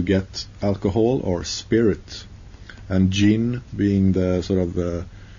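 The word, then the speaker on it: djinn: that's uh G uh gin is spelled g i n the drink and gin is d j i n n gin it's very similar yeah so uh I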